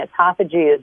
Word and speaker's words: autophagy: Autophagy. You got to spell it. I think it's ATOPHOGY. I got to look it up. It sounds like esophagus.